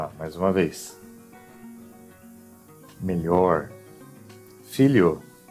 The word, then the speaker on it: filho: Ele será pronunciado como li. Vocês vão substituir mentalmente por li.